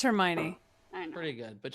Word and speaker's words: Hermione: How do you pronounce the name that starts with H-E-R? Her. Hermione.